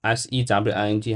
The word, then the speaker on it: sewing: as s SW s s e w i n g how pronounced sir that's pronounced so sewing so Greg is saying